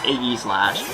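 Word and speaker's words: Aegislash: Apparently it's pronounced Aggie Slash.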